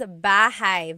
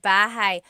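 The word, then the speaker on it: bahay: Da says bahigh. Very good. Bahai.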